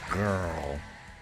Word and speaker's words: Grrrl: That's spelled GRILLGRRRL. So it's Grrrl.